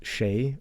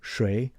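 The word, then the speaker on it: 谁: and as you see it could be pronounced sheay or Shay I've heard it both ways but most of the time I heard it as sheay and that's the way I pronounce it which means who so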